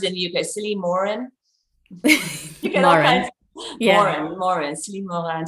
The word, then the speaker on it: Morin: So Celynn, how do they pronounce it in the UK? Celynn Morin?